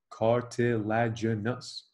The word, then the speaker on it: cartilaginous: There are two types of joints that we classify as cartilaginous, five syllables, cartilaginous.